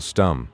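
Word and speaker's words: Stumm: "Why, it's Colonel Stum," he cried. He pronounced it like the first syllable in stomach.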